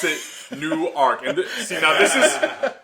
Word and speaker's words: Newark: from Jersey uh they they act like the W isn't there you know like they just say newer and I'm like no